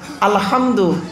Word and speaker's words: আলহামদু: বলি আলহামদুলিল্লাহ রব্বিল আলামিন, আলহামদু এ গলার ভেতর থেকে হেটা উচ্চারণ হবে, আই হুতি আলহামদুলিল্লাহ রব্বিল